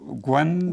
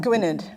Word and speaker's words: Gwynedd: There's a young sister, and I'm not going to pronounce it, Gwen? Gwynedd.